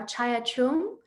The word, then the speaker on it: Chaya Chung: of mekong nyc and chaya please correct me if i pronounced your name incorrectly but we're looking forward to hearing more about you good evening everyone no you did perfectly so thank you for